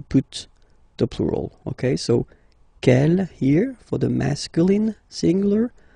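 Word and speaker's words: quelle: here masculine plural okay K here feminine singular will become K with the S feminine plural and the good news is that you will pronounce them the same way all right so k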